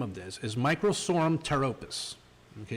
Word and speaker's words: pteropus: Now, the scientific name of this is Microsorum pteropus. Okay, it's got a P on it. P is PT, always makes the T sound. So this is Microsorum pteropus variety needle leaf.